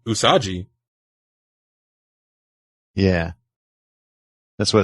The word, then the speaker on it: usagi: definitely right about okay so U as an udon let's see rhymes with blue so u u is right and then sa like soccer and then G oh it's G rhymes with b g usagi usagi yeah that's what it's